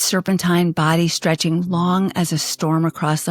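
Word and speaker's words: 龙: It is a long, the Chinese word pronounced simply as the English word long.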